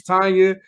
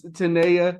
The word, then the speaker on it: Tanaya: pronunciation of your name I thought it was Tanya I didn't know it's Tanaya right Tanaya Tristan let me tell you every time I've been going through this for I'm 31.